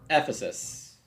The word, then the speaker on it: Ephesus: coming the pronunciation tips thanks I'm sure I mispronounced it um Ephesus Ephesus I'll I'll try to keep that in